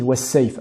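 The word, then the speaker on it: والصيف: D'abord la lettre Waw à ne pas prononcer de manière emphatique, Wa, mais bien Wa, was-sa, et par contre la lettre Sad à bien prononcer de manière emphatique pour ne pas la prononcer Sin, was-sayf.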